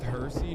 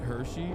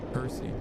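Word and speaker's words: Hirsi: It's pronounced Hersy, not Hershey. Oh, okay. I don't really care. But all right, good. Thank you. Hersy.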